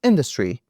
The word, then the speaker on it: industry: Look at these parts of the interview and pay attention to words, atmosphere, and industry, in both of which the first syllable is stressed.